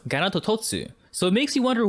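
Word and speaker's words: ガノトトス: Its Japanese name is pronounced Ganatototsu, so it makes you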